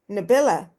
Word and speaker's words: Nabila: And I want to say um Nabila is that I am pronouncing it right.